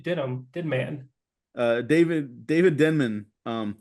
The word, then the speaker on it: Denman: Denman uh David David Denman um I thought it was denim too oh I've been pronouncing that man's name wrong since I saw the office uh David Denman who